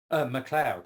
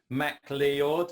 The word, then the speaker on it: MacLeod: MacLeod is fine. Okay. Macleod, I've heard a lot as well, which is, I guess accurately it should be called Macleod, but MacLeod is fine.